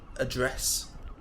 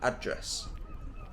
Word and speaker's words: address: rules these words are address that would be the British pronunciation whereas Americans would say address it's just a different emphasis on the word again with adults Americans